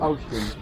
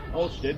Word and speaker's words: Olsztyn: Pronounce that again? Olsztyn. Olsztyn.